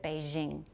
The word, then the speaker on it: Beijing: Zsa Gabor Jean Dom so when we say a je they said Beijing and they do that